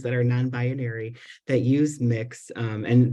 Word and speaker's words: Mx: use mix um and that is the correct from what I understand pronunciation per pronounced pronunciation of of MX um so you'd say mix Clemens or you know their last name Mick Smith or whatever um so yeah definitely that's